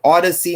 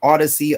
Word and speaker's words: Audacy: WZGC is owned by Odyssey Incorporated and licensed to Odyssey License LLC. Odyssey is spelled Audacy.